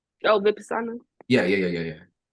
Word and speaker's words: Vipassana: Was that for how do you pronounce it? Vinyans? Oh, Vipassana.